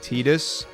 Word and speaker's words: Titus: that we've learned it's as soon as people find out Titus was meant to be pronounced tetus that went out the